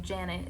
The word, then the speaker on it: Janet: No hate against the name Janet, it just rhymes with planet in one of my songs.